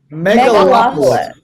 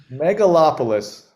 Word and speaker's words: Megalopolis: How do you pronounce that word, Tom? Megalopolis. Megalopolis.